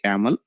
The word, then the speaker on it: YAML: Okay, for pronunciation purpose we call actually yaml, so extension is .yml here.